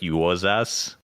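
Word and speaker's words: Juozas: depending on who you ask and so that's pronounced like you was ass like and six-year-old me could not parse this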